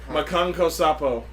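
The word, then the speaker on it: Makankosappo: How do you pronounce it? Makanko Sapo.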